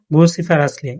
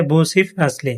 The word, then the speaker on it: Vociferously: শব্দটা ইংরেজরা উচ্চারণ করে বুসিফ আসলি। আর বাংলা উচ্চারণ হবে বুসিফ আসলি।